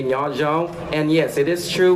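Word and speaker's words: Nyob zoo: This is how you say hello in Hmong. Repeat after me, Nya Zhong. One more time, Nya Zhong.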